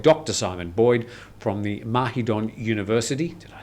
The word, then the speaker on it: Mahidol: Simon Boyd, from the Mahidol University. Did I say it right? Yes. Mahidol. Mahidol.